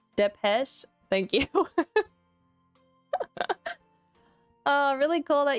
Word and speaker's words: Depeche: Oh, it's pronounced Depeche.